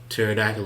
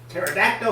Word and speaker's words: Pterodactyl: Pterodactyl is spelled with a P. Without P. That's why you can't hear it in the bathroom. Such wisdom. Cuz the P is silent. Silent. That wasn't a gunshot. Pterodactyl.